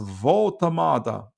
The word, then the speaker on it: Woltemade: Gary says it's pronounced Woltemade.